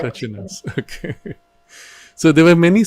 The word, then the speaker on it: Crăciunas: Is that how you pronounce it? Yes, correct. Crăciunas, okay.